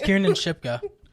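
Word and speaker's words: Kiernan Shipka: like I read her name differently oh it's Kier and shipka I wouldn't have thought that's how you pronounce it and uh Biff tannan is played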